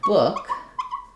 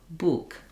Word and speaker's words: book: So I also have words like good and book where the spelling pattern that you are aware